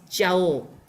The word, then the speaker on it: Jauh: J-A, so we will pronounce as Jauh.